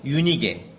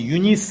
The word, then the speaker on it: 유니게: 어머니는 유니게. 유니게 그렇습니다. 영어 이름으로 이제 유니스 이런 이름을 가끔 보실 수 있는데 그게 유니게예요. 이제 발음이 그리스어 발음이냐 영어 발음이냐 그 차이죠.